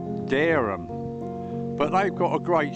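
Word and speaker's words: Dereham: about a place called darum in Norfolk it's pronounced darum but they've got a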